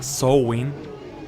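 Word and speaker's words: Samhain: cosa era esa festividad escritas am h i'm samaín pronunciada show in te suena te daré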